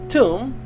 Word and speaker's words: Thumb: Thumb. Pronounced tomb.